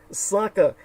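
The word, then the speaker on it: Sakha: and it's known as the Congo of Russia it's spelled s a k ha a Saka now the most uh decisive aspect of Saka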